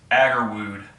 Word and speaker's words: Agarwoud: i said it right it's aggro wood you know like aggro wood and ood rocked together so it's like it's like